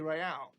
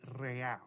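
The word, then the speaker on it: réal: go not so fast you owe me 130 Royale what's Ro excuse me you owe me 130 real he pronounces the r with the bach aristocratic exit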